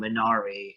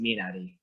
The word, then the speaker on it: Minari: there uh who have been calling the film menari it's actually pronoun as a korean i can tell you it's actually pronounced minari i'm glad you did because i haven't seen